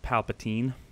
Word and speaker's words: Palpatine: I also said Palpatine, or Palpatine, sorry, while it's meant to be pronounced Palpatine.